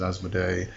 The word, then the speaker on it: Asmoday: So Connolly says, some believe Asmodee is one of the 3 heads of the Asmodei. So the difference here is in the spelling. It's A-S-M-O-D-A-Y, which is Asmodee, and Asmodei is A-S-M-O-D-A-I.